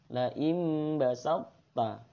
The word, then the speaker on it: la im basatta: Kalau dibaca aslinya basatta karena to itu huruf qalqalah ya, jadi harus dibaca basatta. Akan tetapi karena ini idgham mutajanisain maka to-nya hilang. Ya, jadi bacanya la im basatta.